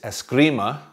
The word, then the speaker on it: Eskrima: assuming Escrima which is another Spanish word poorly pronounced as Grima es g RI ma in tagalog it's Escrima so es que or es c RI ma